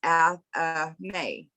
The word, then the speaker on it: athame: but it says before we go on, it's pronounced athame.